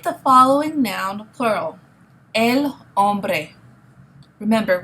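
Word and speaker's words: hombre: following noun plural El om remember we don't pronounce the h in Spanish okay El om all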